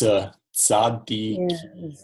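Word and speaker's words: צדי: So this is a tzade, so not a Z sound, but it's tzadi. Za. So it's like a cheesy. I mean, I know it's cheesy, but I don't know how to pronounce that. I know it's hard. So it's like cats. When you say cats, the TS at the end of cats. Sa. Yeah, so it's better with an S sound, but try to get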